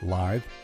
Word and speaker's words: lithe: Here are three kind, talented, sweet, lithe, rhymes with Blythe, wonderful women.